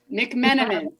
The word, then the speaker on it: McMenamin: McMenamin.